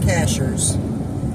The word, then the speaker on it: Cashiers: are 9 minutes from Cashers it's it's pronounced Cashers it's spelled cashiers that was a caboose